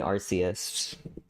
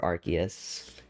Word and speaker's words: Arceus: The shiny Arceus or Arceus, either or. Pokemon pronunciation has never been a big deal for